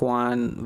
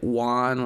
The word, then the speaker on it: Juan: lot of people so they would say like one like with the W like basically how I say one you want one or Guan you know on yeah